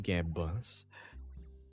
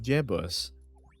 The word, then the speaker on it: Gebbos: when you say it, Gebbos, but you grow used to it over time. I remember seeing the video on TikTok where my name was being mispronounced. I was being called Jebus.